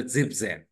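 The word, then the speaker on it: siebzehn: क्या लगा है सेन सो इट इज अ जिप जन 17 इज व्हाट जिप जन 17 क्या है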